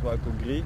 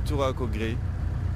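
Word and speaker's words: Touraco gris: I would ask Turaco Gris. I think it should be Turaco Gris for the Grey Lurie.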